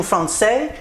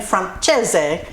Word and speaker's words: Francese: Today I'm honoring a request from lady time chicken franches or actually there's two pronunciations. French is chicken fron and Italian is chicken franchise and I kind of did a mix of the two.